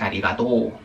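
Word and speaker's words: ありがとう: Ah, este también se alarga. Es Arigató.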